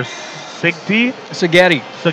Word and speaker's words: Seghetti: What rhymes with Seghetti? Spaghetti.